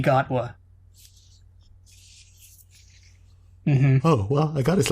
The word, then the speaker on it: Gatwa: never would have guessed while gatwa is simply gotwa oh well i got